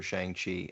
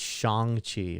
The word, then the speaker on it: Shang-Chi: I'm really excited for Shang-Chi. I feel like it's going to be so different than anything else we've seen. Saying it wrong too. It's Shang-Chi apparently. Shang-Chi? Yeah, Shang-Chi.